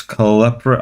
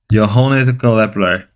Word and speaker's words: Kepler: Jonas Klepper. I'm pronouncing that first name wrong. Johannes Kepler, German astronomer and mathematic man.